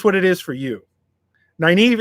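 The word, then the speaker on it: Nynaeve: you totally butchered completely mine was naive uh for whatever reason it was nineveh in my head every time i read it the first time it was nineveh nineveh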